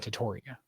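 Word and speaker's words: Tetairoa: Tatoria.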